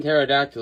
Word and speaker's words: pterodactyl: The P and pterodactyl is silent, but if you hire a guy without a mouth to read your mail, every letter is silent.